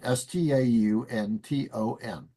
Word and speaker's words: Stanton: Uh, that's named S T A N T O N.